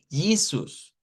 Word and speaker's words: Jesus: Pero en inglés se escribe igual, pero decimos Jesus.